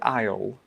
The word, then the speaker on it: aisle: Um, well, it's got a lot of silent letters that aren't really pronounced when you say it.